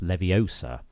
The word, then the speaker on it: Leviosa: prism helm what's that I'm being told it's pronounced Leviosa not Leviosa nice work prism helm